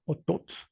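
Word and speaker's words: otoot: También habrá notado que el acento o el tono siempre recae en la segunda sílaba de las palabras. Anteriormente les puse la palabra ishik, la palabra kinich y ahorita la palabra otot. En la segunda sílaba o en la segunda vocal es donde recae el acento.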